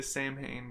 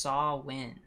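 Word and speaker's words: Samhain: I'm saying this wrong what I I say sam Hayne but it do not yeah they they actually say sam Hayne in the in the movie it's actually pronounced saw win saw win so I'm going to try to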